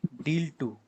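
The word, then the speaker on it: deal.II: two if you've heard its name and repeat deal two okay so it's spelled like d-a-l and this two okay deal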